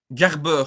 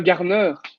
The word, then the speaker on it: Garner: C'est Garber. Je sais pas si je le prononce bien, le milieu de terrain de United, de Everton. Ah, Garner.